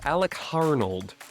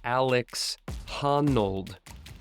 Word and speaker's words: Alex Honnold: featuring a young up-and-comer by the name of Alec harnold sorry just um was reading my notes wrong there it is pronounced Alex hanold um honold Alex hanold yeah keep an eye